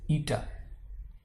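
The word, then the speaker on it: η: ईटा है ठीक है यू प्रोनाउंस इट एस ईटा ईटा एक स्केलर वैल्यू है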